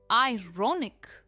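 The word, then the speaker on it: ironic: आयरॉनिक एक adjective है और इसकी प्रोनाउंसिएशन है आयरोनिक। स्ट्रेस रॉ पर है, आयरॉनिक।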